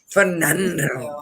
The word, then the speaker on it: Fernando: You gotta roll your R's. Fernando.